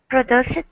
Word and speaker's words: produced: bad news that we've produced this new number." Okay, very good. Anna, can you repeat the word produced? Produced. Perfect. Yeah, like with a T sound at the end.